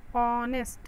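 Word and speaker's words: honest: एच is silent, ऑनेस्ट, ओ की आवाज़ आ रही है।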